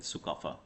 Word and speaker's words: Sukapha: The first king of Aomes is known as Sukafa. Okay, we know him as Sukafa, right? The pronunciation was a little different when they came, but now everyone calls it Sukafa, right?